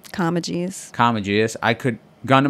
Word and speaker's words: Comegys: how do you say your last name kajus Kus I could gun to my head say last name pull the trigger how you doing uh come guys yeah it's always come guys I mean I